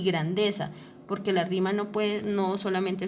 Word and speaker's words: grandeza: Y grandeza tiene el acento en la sílaba de, ¿listo?